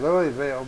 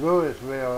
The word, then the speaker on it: Louisville: it Louisville or Louisville everybody says Louisville but it's Louisville actually well I thought he